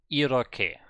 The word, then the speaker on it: 이렇게: So, it's just silent H and a strong K sound. That's what it should be, according to this table. So now let's see. So that means we have Iroke.